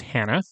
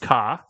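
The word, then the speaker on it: 花: The first one is hana. It can also be pronounced ka, and it means flower.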